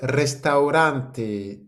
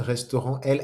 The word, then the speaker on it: restaurante: El restaurante. Le restaurant, el restaurante. Attention, le A et U se prononcent bien.